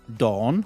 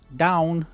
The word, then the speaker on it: dawn: Okay, and the next one is dawn, which many people pronounce down, and it's wrong.